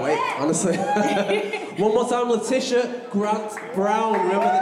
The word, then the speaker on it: Letitia: honestly one more time latisha grant brown remember the name oh my twitcher is at leticia gb and my name's not spelled the way it sounds it's spelled letitia under scott gb yeah